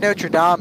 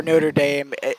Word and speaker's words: Notre Dame: yeah the Academy of Notre Dame is right near or Notre Dame it's pronounced either way you can take it either way it's right around a